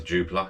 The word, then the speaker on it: Jupiler: I believe that's how you pronounce Jupiler. It's Jupiter but with a L-E-R on the end, Jupiler.